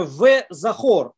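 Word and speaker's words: וְזָכוֹר: Видите, мы здесь видим, как она используется, эта буква, она читается здесь и как «о», и как «в», да, «шамор», она как «о» читается, «везахор», и как «в» она читается, да, это просто как пример использования этой буквы.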